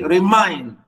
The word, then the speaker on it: remind: Re, unstress, mind. We say remind.